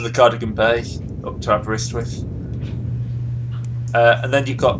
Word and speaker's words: Aberystwyth: How is that pronounced anyway? Well, Aberystwyth.